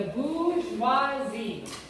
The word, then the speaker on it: bourgeoisie: And then you have the beginning of a new class, the bourgeoisie. Okay, can we say it? Bourgeoisie. Bourgeoisie. In English, if you don't pronounce French words correctly, you sound very dumb.